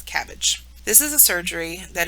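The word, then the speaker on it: CABG: field you might see abbreviated and pronounced as cabbage this is a surgery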